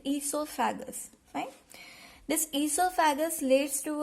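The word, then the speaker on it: oesophagus: O is silent here, so we are pronouncing it esophagus.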